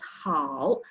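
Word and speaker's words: 好: And this is a good example because this character, which means good, pronounced as how, consists of three elements, which are tone, initial, and finals.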